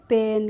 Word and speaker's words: pain: तो PAIN है तो PAIN को कैसे पढ़ेंगे, P से बन गया पा, और AI का प्रोनाउंसिएशन क्या करेंगे हम, ए करेंगे, ए करेंगे तो क्या हो जाएगा पे, और N से हो जाएगा ना। तो PAIN का प्रोनाउंसिएशन होता है पेन, क्या होता है, पेन होता है।